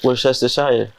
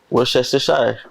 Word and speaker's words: Worcestershire: You missed a lot of syllables in there, but no, because it's supposed to be silent. All these, I don't think you say all these letters. They just put them in there.